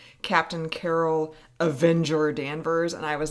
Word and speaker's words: Danvers: But then he sees a picture of Captain Marvel as Carol Danvers back before... Or Danvers, as they would like us to pronounce it.